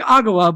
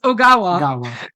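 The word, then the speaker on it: Ogawa: them were returning characters nurse agawa who I kept saying agawa but it is oawa yeah sorry for mispronouncing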